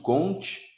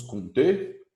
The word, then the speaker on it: Comte: gente que pronuncia augusto comte no português mesmo tem gente que fala alguns conter né não canseis essa pergunta